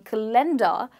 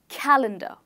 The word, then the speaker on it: calendar: For example, we started with this word calendar, it has three syllables and it is stressed on the first syllable. So instead of saying calendar, you will say calendar.